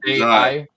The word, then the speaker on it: Psy: Is that how you pronounce that? Oh, Psy.